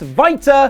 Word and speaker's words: Walter: German soif Nation contingent is pronounced vitae but I'll just call him voltar for now as that's what everyone else does state Meltzer of the